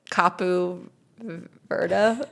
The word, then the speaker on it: Cape Verde: So Cape Verde, I looked at this pron pronunciation, too. So they say Capu Vera, but we say Cape Verde.